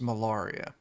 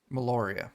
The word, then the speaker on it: Meloria: Oh man, Huxley, you would know that her name is Malaria. Meloria, that's the right way to pronounce that.